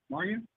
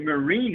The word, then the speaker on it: Marya: Now, is that how you say your name, Marya? Marya? Yeah, that's how you say it, Andrew. Hi, yeah, Marya. So great to be here. I thought I was going to say Marine at first, Marine. No, it's Marya.